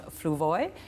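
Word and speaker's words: Fluevog: And these shoes are designed by John Fluvoy. I'll spell that F-L-U-E-V-O-G, John, in case you're shopping in Toronto or other places.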